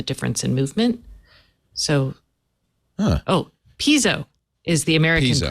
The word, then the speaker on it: piezo: Pas no electric electrically so it is Piezo piezoelectric not piso Piezo there's two syllables learn